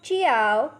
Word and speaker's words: jiao: The next Pinyin is Jiao, has a pronunciation of Chiao.